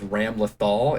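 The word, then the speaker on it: Ramlethal: my uh main is ram lothal it is spelled ram lethal but i'm having a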